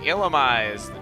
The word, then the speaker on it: Illumise: And as for the pronunciation of Illumise's name, that's how the anime pronounced it. That's why I'm saying it like that, because everyone's like, why aren't you saying it like Illumise?